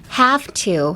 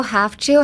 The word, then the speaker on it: have to: So, even though have to has a V, you don't have to say have to. It's half. Have to. Uh, it kind of has the same pronunciation as the half.